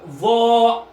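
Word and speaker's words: ظاء: Le va, faut mettre la langue entre les dents et c'est une lettre emphatique, donc la prononcer assez grosse et ne pas confondre avec the.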